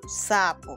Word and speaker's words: sapo: Ahora tenemos que ubicar la sílaba tónica, es decir, la sílaba que suena con mayor fuerza. Sa, po. Sa, po. ¿Cuál crees tú que es la sílaba tónica? Muy bien, la sílaba tónica entonces es sa. Perfecto. Y seguimos la flecha. Entonces tenemos que sa es la sílaba tónica y po, que es la que suena más débil, sería la sílaba átona.